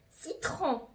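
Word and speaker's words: citron: دونك انا جي برونونسي، انا نطقت الاو ان اون، ملاحظين؟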